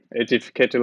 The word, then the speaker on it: Aedificator: Yes, Aedificator Lego, that's fine.